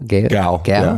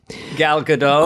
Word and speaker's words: Gal Gadot: Gal. Yeah. Yep. Gal Gadot.